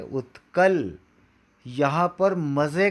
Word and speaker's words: उत्कल: द्राविड़ उच्छल बंग नहीं बोलेंगे। अब देखिए गाते समय कैसा गाएंगे। पंजाब, सिंध, गुजरात, मराठा, द्राविण, उत्कल, बंग।